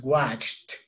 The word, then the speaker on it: watched: one right here, okay, pronunciation is watched, okay? Al final hay como una T explosiva para esta pronunciación de este verbo regular en pasado, okay? When was the last time you watched? Okay, como termina una T explosiva, agarra el it, watched it, watched it, all right? Es una T aquí, en pronunciación al final y agarra al it, watched it, watched it, okay?